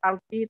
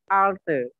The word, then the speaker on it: altı: Bukan alti, tapi alte.